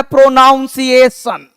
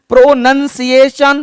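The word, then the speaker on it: pronunciation: बोलता है प्रोनाउंसिएशन। अरे बावले प्रोनाउंसिएशन नहीं होता है। प्रोनाउंसिएशन। प्रोनंसिएशन। प्रोनाउंसिएशन नहीं। क्योंकि प्रोनाउंस वर्ड अलग है।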